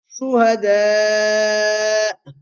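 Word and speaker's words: شهداء: When a Hamza comes at the end of a word, you always do a slight jerk. Quru, and not as much as that. I'm just doing it to show you. I'm exaggerating it to show you how you actually pause on Hamza.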